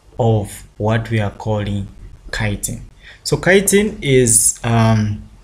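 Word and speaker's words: chitin: so kiteen is um it depend with how you you pronounce it others will call it cheating uh me I call it kene that's according to my grade one teacher uh yeah so uh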